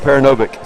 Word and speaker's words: Paranovic: And it really is pronounced in the simplest form of the way it's spelled, Paranovic.